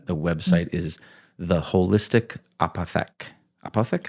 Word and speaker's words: Apothec: And the the website is the holistic apathic. Apothec. How do you say it? Apath. Apothec.